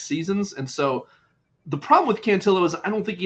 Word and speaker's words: Cantillo: always throws me because I I want to say cantio but I've heard him pronouncing it's cantillo so kind of throws